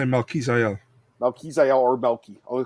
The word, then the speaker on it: Melquizael: I say Melquizael.